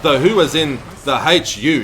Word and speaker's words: Hu: school band but though who was in the hu it's spelled hate you it's these guys are from